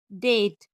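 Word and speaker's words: debt: बी जब एम के बाद और टी के पहले आए तो साइलेंट रहती है। जैसे बम, थंब, क्लाइम, डाउट, डेट और सेटल।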